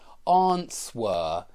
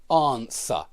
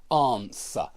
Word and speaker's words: answer: lot of people say answer instead of answer yeah and the correct way of saying that word is answer answer notice there is no W in the pronunciation and so be please